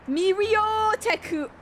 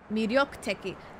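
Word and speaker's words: 魅力的: These always trip me up because I always pronounce this as ryo. It's ryo. It's one thing. It's not ri... Ah, yes. Miryoteku.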